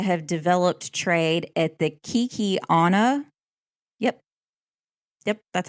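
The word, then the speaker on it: Kekionga: Kinsey was known to have developed trade at the Kikiana.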